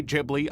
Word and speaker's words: Ghibli: It's how they pronounce it in Japan.